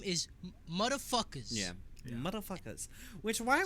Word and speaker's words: Mutafukaz: It's called MFKZ, but the actual name is Motherfuckers.